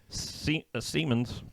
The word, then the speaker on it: Siemens: This, someone said online, is the first time Siemens, that's how it's said.